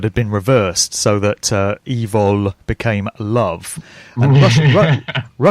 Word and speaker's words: Evol: only vegan but it's it's love backwards spelled Evo L and it's phonetically evil like it's really it's